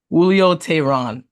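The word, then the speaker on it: Julio Teheran: it's not bad another guy is you can pronounce his name because I was butchering Julio who Julio Tyron there you go Julio Tyron what was four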